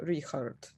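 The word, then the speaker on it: Richárd: of a6 or b7 so now i expect richard to play knight at d3 but i heard that his name is actually pronounced like zikart or like how is it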